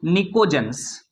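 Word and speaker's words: pnictogens: इनको बोला जाता है निकोज्स। क्या बोलते हैं? पी से स्टार्ट हो रहा है। पी साइलेंट है।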